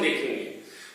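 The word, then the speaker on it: the: द तब कहा जाएगा जब इसके बाद शुरू होने वाला जो शब्द है वो कंसोनेंट से शुरू हो, व्यंजन से शुरू हो।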